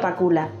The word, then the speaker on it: Pakula: matar un ruiseñor fue el productor adam j pakula y así se dice son objetos exactamente como se proyectara así se escribe es un director de cine muy famoso